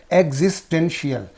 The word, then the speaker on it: existential: So here's the existential. Existential. So here this these three syllables are split into three parts. Okay, and here N is there, T is there, L is there. So the first of that will receive the stress.